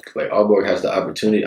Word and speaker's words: Aalborg: here, I feel like Aalborg has the opportunity. I don't know if I'm saying it right, Aalborg.